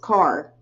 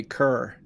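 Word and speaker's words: Kerr: It's spelled K-E-R-R. It's pronounced car. It's pronounced car here in town. Everywhere else in the world, it's going to be cur. It's the Carr family. Yeah, but everywhere else it's pronounced cur.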